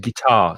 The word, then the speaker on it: guitar: guitar of course yeah in english guitar so i stress the second syllable um guitar and guide